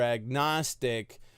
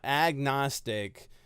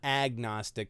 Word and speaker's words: agnostic: will the nost not agnostic ah it's not agnostic it's a gnostic because the a is a prefix and the G is silent so it's at Gnostic